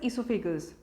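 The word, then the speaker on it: oesophagus: to make it clear ओ ई की जो spelling है अ एक आपको पता है जैसे एक अमेरिकन स्पेलिंग रहती है और एक ब्रिटिश स्पेलिंग लेती है या इंग्लिश तो Americans usually they use ई बट we pronounce it एज इसोफागस now next mouth stomach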